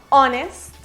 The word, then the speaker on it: honest: Esta regla tiene estas excepciones en las que la H no tiene sonido. Hour, air, honest, honor.